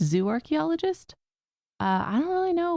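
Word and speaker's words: zooarchaeologist: Um I think you are actually the first zoarchchaeologist that we've had on the show which for listeners I know I'm saying zo archaeologist but it's zoo archaeologist.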